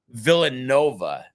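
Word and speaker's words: Villanova: I guess they PR they pronounce it uh villain Nova even though it's spelled kind of like villaa um but and I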